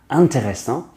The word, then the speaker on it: intéressant: These two words actually start off with the un sound. Intéressant, intéressant, and intuitif. Intuitif.